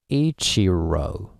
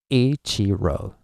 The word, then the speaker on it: Ichiro: just as I pronounced you would go like Ichiro Ichiro oh and the pitch would be a e zero right but in Japanese yeah flat and Peach is I